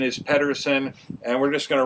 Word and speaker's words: Pedersen: consult the experts, it seems that the proper pronunciation is Pedersen. I grew up at a time when people said Peterson, and I have a tendency to revert back